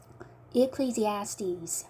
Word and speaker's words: Ecclesiastes: 자, 여기까지 여긴 Z 발음. Ecclesiastes. 여기 S는 S 발음. Ds. 여기 마지막 S는 Z 발음.